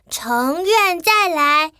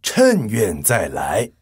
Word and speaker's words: 乘願再來: 哦，那要念成趁愿再来。